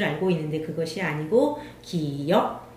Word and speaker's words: 기역: 기, 기역, 기역입니다. 기읍이 아니고 기억도 아니고 기역. 반드시 기억을 하셔야 돼요. 기읍이 아니라 기역이다.